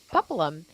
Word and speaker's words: Paplham: And so one of the questions that the audience asked was, I really want to be able to say your name correctly. How do you say it? And she says, Paplum.